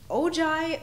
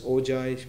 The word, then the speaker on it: Ojai: moving on to the ogi music festival yeah i hope we are pronouncing right it's uh the ogi musical um the ojai music festival announced the appointment of